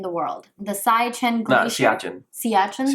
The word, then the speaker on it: Siachen: Siachen, that's how you say it. Excuse me. The Siachen Glacier. That's a Hindi pronunciation.